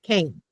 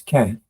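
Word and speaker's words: כֵּן: would pronounce it as Ken. But yeah, so when you're saying it in a normal sentence, it's shorter than Cain.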